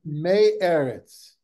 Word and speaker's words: me'eretz: to say it, but is it meretz? Meretz? So, yeah, me'eretz. So it's comprised of one word, eretz. The noun means land.